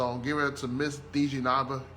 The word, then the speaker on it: Dejenaba: giving it to miss dj nava gordon that's i said it right yeah okay okay i'm very